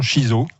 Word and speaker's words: shiso: à rouge ou alors je me suis la prononciation shiso c'est bien comme ça donc c'est une plante